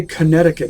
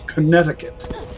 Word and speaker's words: Connecticut: And why do we say Connecticut if it's spelled Connecticut? Or rather, I could ask, why is it spelled Connecticut if we pronounce it Connecticut? Connecticut. What is the point of putting unpronounced letters in words?